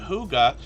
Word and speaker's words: Hygge: let us know that Huga means cozy, peaceful home in Danish, and that's how we pronounce this word, Hygge. Or at least as best as I can, if that makes sense.